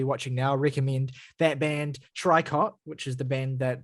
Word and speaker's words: Tricot: now, recommend that band Tricot, which is the band that Saoirse talked about. Trico, of course, it's not Tricot. Trico. That's the pronunciation.